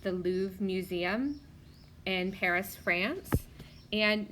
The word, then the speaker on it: Louvre: look at number 11 that's the lube it's pronounced the Louvre museum in Paris France and number 11 says